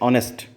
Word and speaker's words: honest: Spelling में consonant है, लेकिन साउंड में वॉवल साउंड है, इसलिए यहाँ पर हमें कहना पड़ेगा अन ऑनेस्ट मैन।